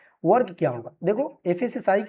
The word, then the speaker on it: FSSAI: से भी जानते हैं, बट फसाई प्रोनाउंसिएशन सही नहीं होगा, बट ठीक है, बोलने के लिए हम बोल सकते हैं फसाई, लेकिन इसका सही जो उच्चारण होगा वो क्या होगा, FSSAI यानी कि FSSAI, food safety and standard authority of India.